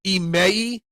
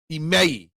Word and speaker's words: Imai: It's pronounced Imai. Imai. Imai. Imai.